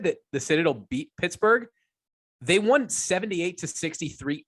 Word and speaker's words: Citadel: there like to call they don't say Citadel they call it the Citadel uh it you you